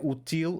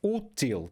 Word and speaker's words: útil: Então estás a ver que aqui não é util, é útil, porque temos aqui o acento.